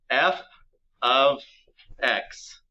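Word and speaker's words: f(x): and it's pronounced a very specific way it's pronounced and you'll write it down here f of x the f stands for a function which is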